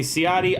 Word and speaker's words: Ciotti: hmm what's up friends my name is siotti everybody calls me siati i've got an instagram